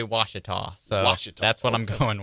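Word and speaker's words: Ouachita: in arkansas i know but how do you pronounce it it's watch it well i looked it up and it did say washita washington that's what i'm going with okay hey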